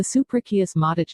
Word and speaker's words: suprachiasmatic: The 24-hour biological clock sitting in the middle of your brain is called the suprachiasmatic, pronounced su-pra-chiasmatic nucleus.